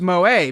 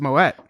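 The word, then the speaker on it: Moët: Anyways, it seems like it would be pronounced Moe because it's Moet, but I'm pretty sure it's pronounced Moet.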